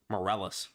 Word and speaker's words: Morales: you actually pronounced it wrong it's it's miles moreles you pronounced Mor moreles yeah moreles yeah this is